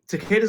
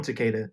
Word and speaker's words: Takeda: pronounce it I just the way that I learned to say it was Takeda because it rhymes with cicada so that's why I